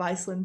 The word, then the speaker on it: Iceland: Я извиняюсь, конечно, я вроде как английский язык знаю вершками, да, но, по-моему, Iceland как Island, то есть S не читается в этом слое, Island, говоря.